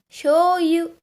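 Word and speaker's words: しょうゆ: The shi plus yo sound becomes a sho sound.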